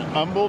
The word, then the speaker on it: Humble: everybody I'm I'm here in Umble Texas I learned to pronounce it correctly today and we're here at